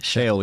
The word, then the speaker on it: Chael: Chael, yeah, Chael Sonnen.